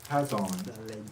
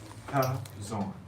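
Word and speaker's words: חזון: the CH is like a K, Kazan.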